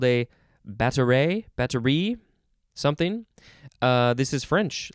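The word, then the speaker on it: batterie: uh next word is battery the emphasis is on the last syllable b-a-t-t-e-r-i-e not with a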